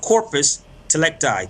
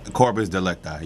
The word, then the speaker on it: corpus delicti: There's a term called corpus delicti. Did you hear that clear? Yeah, corpus delicti, yeah. All right, let me spell it out for everybody real quick.